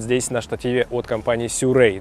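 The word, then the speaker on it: Sirui: на штативе от компании сюррей да именно так произносится название компании Мы привыкли слушать слышать серую этот штатив гораздо легче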